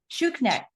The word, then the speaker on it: Schuknecht: I didn't ask you how to pronounce it. Shukneck.